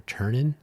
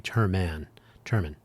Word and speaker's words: Terman: I have sometimes said Dr. Ternan, and I believe I'm saying it correctly. Terman.